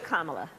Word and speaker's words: Kamala: time pronounce your name comma so just think of like the punctuation mark a comma and that add a lot and there you go